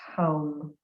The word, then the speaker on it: ham: for the throat chakra is often written h.a.m ham but is pronounced hum so in your mind